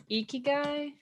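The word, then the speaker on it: 生き甲斐: Ikigai. Ikigai. Yeah, it's pronounced Ikigai pronunciation.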